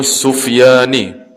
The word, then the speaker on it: Sufyani: Dan bersalahan ulama pada zahir Sufyani tu bacanya Sufyani yakni pada zahir Sufyani.